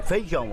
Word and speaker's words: feijão: A gente engole o I, né? Em muitas regiões, a vogal I, quando está com outra, desaparece.